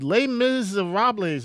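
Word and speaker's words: Les Misérables: They pronounce it Les Miserables, right?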